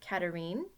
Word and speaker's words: Catherine: So, Catherine, if you were French, you would probably pronounce it Catherine, which is also very beautiful, but Catherine is just fine.